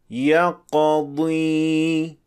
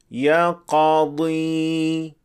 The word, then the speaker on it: يقضي: The second version is this time the correct one. يقضي. Since the jaws didn't move apart when pronouncing the qa. But in the wrong version, we see that the jaws opening a bit, which causes the qaf to have a hint of fatha. يقضي.